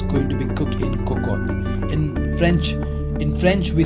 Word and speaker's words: cocotte: Looks like Cocotte, right? But the pronunciation of this is Cocotte.